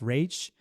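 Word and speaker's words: Raich: Gonzalez versus Gonzalez versus I believe it's pronounced Rach I'm not sure r-a-i-c-h and forgive me if I'm if I'm mispronouncing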